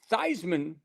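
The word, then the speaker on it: Theismann: Um, but yeah, they ch he they Roger said, "Hey, Thyman rhymes with Heisman and let's take a look and see.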